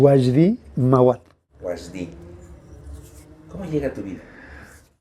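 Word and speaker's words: Wajdi Mouawad: ¿Cómo se pronuncia? Wasdi Mawat.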